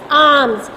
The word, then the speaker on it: alms: ALMS आर्म्स. L silent है.